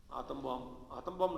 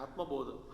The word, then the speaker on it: आत्मबोध: वो तो क्या है आत्म बम नहीं अम्मा है आत्मबोध.